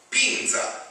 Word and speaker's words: Pinza: Pinza. Is that the way you pronounce it? That is right. It's your Pinza. How's that again? Ezio. E-Z-I-O. Ezio. Pinza.